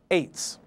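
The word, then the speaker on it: עץ: spelled from right to left ayin tsade sophit, pronounced ets.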